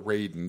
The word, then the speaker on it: Raiden: It kind of reminds me of Raiden, actually, or Raiden, depending on how you want to pronounce it.